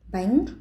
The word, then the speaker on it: bánh: 마잉미 할 때도 ANH가 들어가죠. 바잉미 이렇게 하시면 틀린 발음입니다. 마잉 빨리 하셔야 돼요. 마잉, Bánh, 마잉.